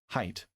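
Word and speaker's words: Haidt: The anxious generation so social psychologist Jonathan hate pronounced height, height, not hate.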